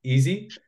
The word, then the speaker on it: EESSI: introduce him so so the way we pronounce it actually is it's easy and that's that's what